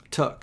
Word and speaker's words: Took: Took is pronounced took, where I come from. Like Peregrine took. Mm-hmm. Like took you.